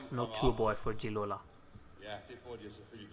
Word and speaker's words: Gigliola: Hello, Gigliola. That's how Famicom told me your name was supposed to be pronounced.